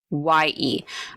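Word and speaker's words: Türkiye: But this is, I looked it up how to spell it. Turkey. Oh yeah. It's Turkiye.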